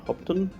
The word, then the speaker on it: Hopetoun: stopping for a bit of lunch in uh hopton uh which is how you pronounce it by the way i've just been